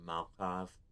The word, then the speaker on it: Malkav: I know it's just an accent thing, but I swear every time they pronounce Malkav, it gets closer to Molotov. Children of Malkav.